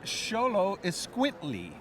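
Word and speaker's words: Xoloitzcuintli: phonetically how to pronounce this how do you pronounce ITA it's sholo is quintly it's Spanish uh this was this is a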